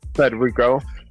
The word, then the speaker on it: Federico: So you have to roll the tongue, right? Okay. You have to roll it.